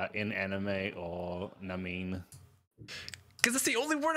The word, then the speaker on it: Namine: Namine. That's not right. Yeah, that's good. Namine. That's good enough. That's Namine. No. It's like anime, but with an N before it.